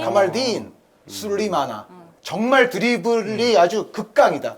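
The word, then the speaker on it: Kamaldeen: 딘의 액센트가 있어요. 카말딘. 카말딘 술리마나.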